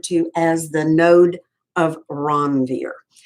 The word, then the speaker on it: Ranvier: That gap is referred to as the node of Ranvier. Now, the Europeans pronounce it a little differently, Ranvier, because it's a French word.